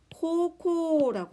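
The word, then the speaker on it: 高校: 여기에서 여러분 우자, 네 번째 우자 둘 다 뭐죠? 장음입니다. 비슷한 발음, 같은 발음이 연속적으로 오고 뒤에 오는 이 우자가 모음일 경우 장음으로 발음해라 라고 했던 거 기억납니까?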